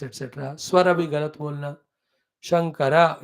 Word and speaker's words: Shankara: Shankara, it is Lord Shiva. Sankara, it is cross breeding.